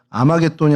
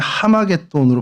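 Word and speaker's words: 하르마게돈: 알파 위에 이렇게 찍히게 되면 그게 아바음이 아니라 하발음이거든요. 그래서 아마돈이 아니라 하마돈으로 발음을 해야 되는데 그럼이 하마돈이라는 것은 어디서 나온 단어냐?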